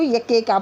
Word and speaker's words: Iacocca: इसको जो है IACOCCA जो है इसको यके का पढ़ते हैं, के को डबल साउंड है यके का, ठीक है। ली यके का वॉज फायर्ड बाई, फायर